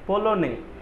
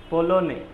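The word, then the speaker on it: polonais: আচ্ছা, পোলনে, পোলনে, পোলোনিস, পোলোনিস, পোলোনিস ই যোগ করতে হবে। আচ্ছা, মাস্কুলার উচ্চারণগুলো পলো নে, হ্যাঁ, নে পর্যন্ত, পলো নে, হ্যাঁ, এস এস উচ্চারণ করতে হবে না, তাহলে এই পর্যন্ত, রাইট?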